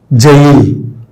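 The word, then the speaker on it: gaol: Jail. Our jail itself. So, now this word is rarely used, but still exists this word. How this pronunciation came? G. G is sometimes pronounced the J.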